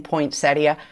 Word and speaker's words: poinsettia: By the way, do you pronounce the second I in poinsettia? I do, but I always feel like I'm on Downton Abbey or something.